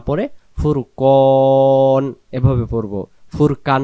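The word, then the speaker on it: فرقان: না তাহলে উচ্চারণ হবে দম ছেড়ে দিলে আমরা উচ্চারণ নুন জবর না পড়ে ফুরকান এভাবে পড়বো ফুরকান না ফুরকান আবার এখান থেকে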